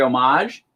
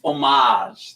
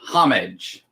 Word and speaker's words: homage: is the god country homage for ten dollars and that's homage the h is silent i watch all these youtube shows and they say homage homage no orange no it's homage black cat number four